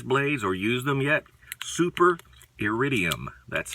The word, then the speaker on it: Iridium: The Super Iridiums are extra stainless. Have you had the chance to see these blades or use them yet? Super Iridium, that's how it's pronounced.